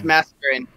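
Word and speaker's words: Masquerain: Yeah, it's Mascarin.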